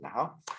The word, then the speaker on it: Nahuatl: It's pronounced Asholo, because in Nahau, the language of the Aztecs, you don't pronounce the TL at the end. Hence, it's Nahuatl. That's how it's spelled, but you pronounce it Nahau.